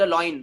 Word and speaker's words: lion: लॉयन का मतलब होता है आई एम द लॉयन मतलब इन लुंगी.